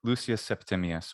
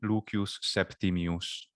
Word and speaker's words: Lucius Septimius: name is uh interesting lucius septimius yeah english would say lucius septimius or lucius lucius lucius whatever you want to do septimius and in classical latin pronunciation leukeus septimius that's cool i like